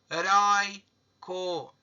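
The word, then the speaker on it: heroico: Agora, a palavra heróico. Heróico. Tá vendo que a sílaba tônica é na penúltima?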